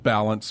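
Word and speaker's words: Ballance: It's called Balance, but it's spelled BALL, because you operate You're in a ball.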